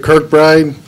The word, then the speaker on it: Kirkbride: Is that pronounced correctly? Yes. Kirkbride.